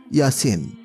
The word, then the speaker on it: ইলিয়াস: এই স্থলে কোরআন মাজিদে উল্লেখিত ইয়াসিন শব্দ সম্পর্কে মাওলানা আব্দুর রশিদ নোমানী বলেন, ইলিয়াস শব্দটির ভিন্ন উচ্চারণ ইয়াসিন। কারণ ইলিয়াস একটি অনারব বিশেষ্য। অনারব বিশেষ্য সমূহের উচ্চারণে আরবরা অনেক সময় ভিন্নতা করে থাকে।